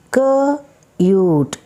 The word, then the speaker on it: cute: Now C-U-T is cut, but when magic E is added, it pronounces cute, cute, cute, cute.